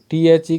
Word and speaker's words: the: तो द को देखिए दी का उच्चारण वावेल साउंड से पहले होता है तो वॉवेल साउंड जो है उससे पहले टी ह लिखा हुआ रहेगा तो वहां पर डी नहीं बोला जाएगा बल्कि दी बोला जाएगा जैसे एग्जांपल में देखिए